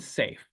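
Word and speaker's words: Saiph: And then we have Bellatrix and Rigel and Safe. So if you take some Betelgeuse, your belly will do some tricks, but if you take some Rigel, you'll be safe, which is spelled S-A-I-P-H.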